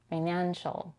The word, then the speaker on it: financial: Here we have the vowel A as in cat, financial. But because it appears before the nasal consonant N, it sounds a bit more like an E, financial. And the final syllable is unstressed with the vowel reduced to a schwa, financial. Notice the ch sound in the last syllable. She doesn't say financial, but financial. Here we have an intrusive t between the n and the fricative sh.